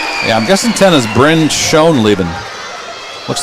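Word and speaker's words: Schon: And she pronounced shown.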